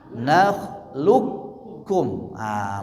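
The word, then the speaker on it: نخلقكم: Berarti bacanya gimana? Nakhluqukum.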